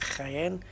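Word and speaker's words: Jaén: somewhere a bit better like the German sharp Church sound when they pronounce a j yeah like but it's like the sound right like Cayenne like the J there's a place in Spain called cryen j-a-e-n yeah it's like a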